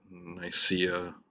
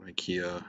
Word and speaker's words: Nicaea: after the Fourth Crusade, and it discusses Trebizond, Nicaea or Nicaea, however you want to pronounce it, and then after when the Byzantines